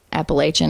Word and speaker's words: Appalachia: Well, I mean, I feel like the farther north you go, like in the States, people do say Appalachian.